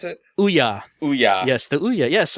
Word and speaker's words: Ouya: bunch of Oya games is that how you pronounce it Ouya Ouya yes the Ouya yes I I did